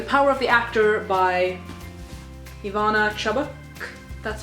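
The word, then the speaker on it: Ivana Chubbuck: I'm reading the power of the actor by Ivana chabuk that's how you pronounce it it's about acting it's uh good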